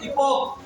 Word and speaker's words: epoch: देखो ये लिखा हुआ EPOCH, इसको पढ़ते हैं इपोक।